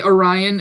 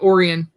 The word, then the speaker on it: Orion: Now, see, here in Michigan, they don't say Orion. I got chastised for saying it wrong. Here in Michigan, we call it Orion. I don't know why. It's just what they say.